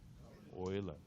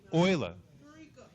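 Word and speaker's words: Euler: orer Oiler okay um EU is a dip tongue dip tongue a dip tongue is a made up variable made made up sorry vowel made up of two other vowels if you speak German correctly how do you say Europe in German EU where do you think o comes fromes okay so yeah that's what that's how you say Oiler is all right anyway so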